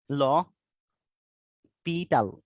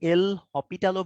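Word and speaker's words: L'Hôpital: এটার মানে বানানটা এরকম, বাট প্রোনাউন্সিয়েশনটা একটু ডিফারেন্ট। ল পিটাল, ঠিক আছে, এটা হচ্ছে প্রোনাউন্সিয়েশন। যদিও এটা আমি ডিফারেন্ট জায়গায় ডিফারেন্ট ভাবে প্রনাউন্সিয়েট করতে দেখছি, বাট মোস্ট অ্যাকসেপ্টেড প্রনাউন্সিয়েশনটা হচ্ছে লপিটাল।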